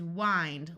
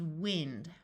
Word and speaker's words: wind: find kind H mind this word can be pronounced two different ways the verb is wind like winding up a toy the noun is wind blind grind we can